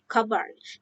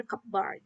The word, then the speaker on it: cupboard: cup and word bar is always pronounced cover never cupboard even slow highly articulated